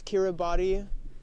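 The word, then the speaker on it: Kiribati: Is it read as Kiraabody? Yeah. Yes, that's the pronunciation.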